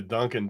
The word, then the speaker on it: Dunkin': I'm telling you, everyone calls it Dunkin's. Gosh. I literally am like super good friends with people who own like across the U.S. like 400 Dunkin' Donuts stores, and they call it Dunkin'.